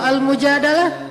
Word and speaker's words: Mujadalah: Kalau Al-Mujadalah, curhat. Jadi tergantung kita bacanya dilah atau dalah. Kalau kita baca Mujadilah, berarti perempuan yang lagi curhat. Kalau kita baca Al-Mujadalah, berarti curhat itu sendiri.